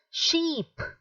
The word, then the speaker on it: sheep: then the next one see it is a shorter sound it is ship ship the first one is sheep so the sound is long there second one is ship